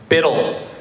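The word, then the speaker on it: BUIDL: How many people here are to talk about Biddle? Build. It's actually pronounced Biddle, we found out.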